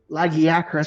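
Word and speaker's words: Lagiacrus: Hey, theios and uh, lagiakas because that's apparently how that monster is apparently pronounced.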